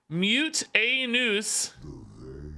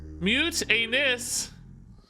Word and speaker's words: Mutanus: manage pole your results mutanus pronunciation mute a noose mute anes mutanus so you guys say it like i do mutantus maybe that's because you watch me i think a lot of people say mutinous oh maybe that's also